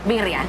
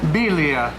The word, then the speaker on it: birria: Birria. Birria.